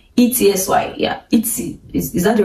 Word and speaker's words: Etsy: I try to use Etsy, E-T-S-Y, yeah, Etsy. Is that the right pronunciation?